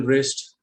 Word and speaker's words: wrist: The letter W is silent when it comes before R at the beginning of certain words like wrap, wrinkle, wrist.